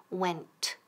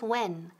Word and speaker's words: went: Repeat, went. Y don't forget esa T al final, no es when. Porque si no dices, no pronuncias bien la T, when, eso significa cuando.